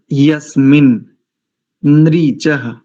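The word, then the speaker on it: यस्मिन्नृचः: बाद आगे बढ़ते हैं यस्मिन नरीच दो नकार है यहां यस्मिन ीच साम यजू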